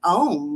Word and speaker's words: Om: And M is a u m as we chant it. So, phonetically, it's um it's om, but as we're chanting, we're going to make our mouths go a m.